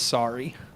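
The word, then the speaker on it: Sarii: His name was Sorry. The dog? Yeah, that was his name. Sorry? It's like Saurii or something like that, but it's Sorry.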